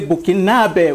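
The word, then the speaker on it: Burkinabè: So we say bokinab with an accent on the last e in French and this is something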